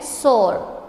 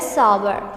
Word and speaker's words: sour: को SOR, ठीक है, ऐसे बोलते हैं सोर, ठीक है. ये रॉन्ग प्रोनाउंसिएशन है, इसकी जो करेक्ट प्रोनाउंसिएशन है वो है सावर, ठीक है.